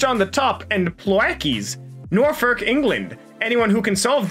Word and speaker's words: Norfolk: Norfolk, England.